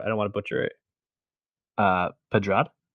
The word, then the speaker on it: Pedrad: Pedrad, Padrad.